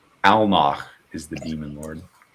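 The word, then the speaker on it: Alnoch: Almach is the demon lord. How do you spell that? A L N O C H. I keep giving it like the German at the end, not unintentionally.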